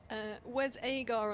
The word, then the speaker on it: Wes Agar: Wes Agar on the pronunciation guide, for anyone wondering, is Wes with 2 Z's at the end, A, and then a dash, and then Gar with 2 R's, just in case yes.